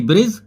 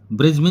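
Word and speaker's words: bridge: है वही खाता जैसे की और जैसे की ब्रिज ब्रिज होता है पुल तो बी आर आई दी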